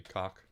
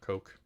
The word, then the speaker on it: COC: What I don't love is that the industry standard for abbreviating code of conduct is COC, pronounced casually cock or coke.